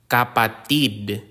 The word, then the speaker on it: kapatid: abata is a child the consonant K like the K in kite capati kapatid capati means sibling the consonant